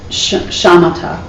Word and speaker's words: shamatha: And it's shamatha in Sanskrit. That's how you pronounce it.